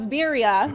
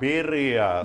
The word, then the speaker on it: birria: So Raul was kind of showing off his pronunciation of birria when he was talking to me. Can you coach me a little bit? How can I say it so I can, like, outdo Raul? Birria.